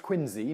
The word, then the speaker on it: Quincy: Sixth president, John Quincy Adams. His middle name is pronounced Quincy, not Quincy, as pretty much every single person alive today pronounces it.